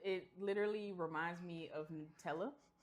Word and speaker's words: Nutella: It's It's Nutella because it's got nuts in it. Not Nutella.